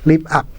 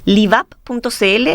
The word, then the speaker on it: LivUp: Quería pedirte, la gente que puede estarnos escuchando, viendo, puede estar interesado en conocer de la iniciativa Live Up.